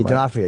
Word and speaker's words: D'Onofrio: We got the Wire guys, and we got Vincent D'Onofrio. Yeah. Is that how you say his name? D'Onofrio, yeah. I always have a problem with that.